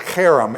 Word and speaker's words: herem: chapter 20 verse 17 harem it's pronounced harem it's a hard H okay it's a it's